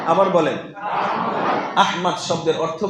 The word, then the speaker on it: আহমদ: একেক ভাবে বলে কিন্তু কোরআনে এই নামটা যেভাবে এসেছে তাকে উচ্চারণ হচ্ছে আহমদ বলেন তো আবার বলেন আহমদ আহমদ শব্দের অর্থ কি